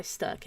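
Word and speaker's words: Stök: And yeah, that's Stoke Frederick. I think he sometimes uses Stoke, but it's pronounced Sturk because it's got the O with the 2 dots over the top of it.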